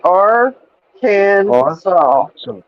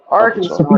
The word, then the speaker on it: Arkansas: We're gonna say it right today. Our Kansas. Arkansas. Arkansas. Yes. You can't say Arkansas. He calls it our Kansas.